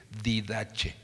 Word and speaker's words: Didache: Hay un libro que usted puede bajar en el internet que se llama La Didache, así se escribe, Didache.